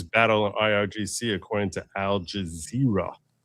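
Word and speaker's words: Al Jazeera: According to Al Jazer, it's Al Jazzra. It's one way of pronouncing it.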